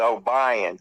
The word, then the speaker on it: Obion: And it's O B I E N is Obion. Cuz you And you live in the South, it's pronounced that way, you know.